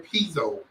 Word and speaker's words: Pizzo: has chosen to run as an independent, Senator Pizzo. I believe that's how you pronounce his name.